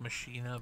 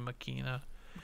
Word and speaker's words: Machina: week's music suggestion uh i said like machina but it's actually makina and also if you